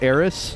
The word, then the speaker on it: Eros: of eros yeah yeah it is eros not air it it's just area because that is what happens if you pronounce eros with a lisp yeah and the localize